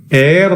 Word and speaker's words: heir: എച്ചിന് നമ്മൾ ശബ്ദം കൊടുത്ത് ഉച്ചരിക്കും, അപ്പൊ ഹെയർ എന്ന് വരും. എന്നാൽ മനസ്സിലാക്കുക, അങ്ങനെ ഉച്ചാരണം നൽകുന്ന ഏതിനാ? HAIR ഹെയർ ആണെങ്കിൽ നമ്മൾ ഹെയർ എന്ന് പറയും. എച്ച് അവിടെ ഉച്ചരിക്കും. എന്നാൽ ഇവിടെ എച്ച് സൈലന്റ് ആണ്.